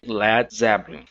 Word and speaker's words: Led Zeppelin: Ele pegou esse A e simplesmente apagou esse A, para que então o som ficasse Led Zeppelin.